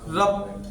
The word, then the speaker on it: rub: अब कप की स्पेलिंग क्या होती है CUP, कप, कप मीन्स क्या होता है प्याला। रब, रब मीन्स होता है रगड़ना, रब करना, रब, RUB।